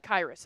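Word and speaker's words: Khyiris: How do you pronounce his his name again? Hi, Chris Tonga. Um, It is uh Kyus.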